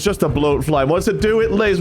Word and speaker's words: bloatfly: called a bloat fly you said it so close the first time and then you changed the pronunciation A blat fly a blat fly a batfly I don't know if